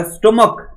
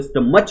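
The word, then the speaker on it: stomach: हमने कुछ एग्जांपल्स लिए हमने कहा स्टमक इसको स्टमच नहीं पढ़ते what do we call this word how to pronounce this one we pronounce this one स्टमक we pronounce this one monarch it's not monarch बात समझो इट्स a monarch it's अ स्टमक तो last में का का आया चा चा नहीं आया बाबू जब चा नहीं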